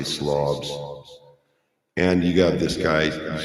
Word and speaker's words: Slavs: It's, spelled like slaves, but I'm going to say Slavs.